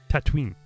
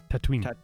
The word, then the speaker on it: Tatooine: Because like Tatooine, you got to say it like Boba says it. Tatooine.